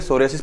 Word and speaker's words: psoriasis: है सूर्य से पी यहां पर साइलेंट रहता है ठीक है सोरायसिस पढ़ा जाता है इसको तो डबल अजी